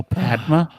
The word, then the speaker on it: Padma: i do what was padma patel actually in in the book oh padma yeah so there's yeah not parma there's twins pavardi and